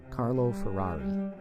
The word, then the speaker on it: Carlo Ferrari: Ferrari 1714 to 1790 now I will pronounce his name with my accent Carlo Ferrari all right so you